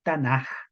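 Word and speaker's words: תנ״ך: como de J, pero se escribe Tanakh, pero tiene un sonido como de la J, porque ese es su sonido cuando va como última letra. El acrónimo Tanaj se forma con las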